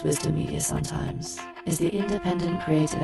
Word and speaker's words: WDMN Media: WDMN Media, which we affectionately pronounce as Wisdom Media sometimes, is the independent creative engine behind this podcast and a whole lot more.